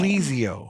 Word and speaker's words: Plesio: company again plesio health is the new name plesio yeah how do you how do you spell that p l s i o PLO Health